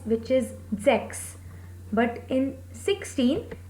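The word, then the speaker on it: sechs: will become fun okay six is sex six sex here the pronunciation pronunciation of s is zo so we said sex next seven zeben seven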